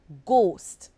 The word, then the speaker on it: ghost: Consider the word ghost. The word ghost is spelled Ghost. GH is at the beginning of the word and it makes the G sound. The H is silent.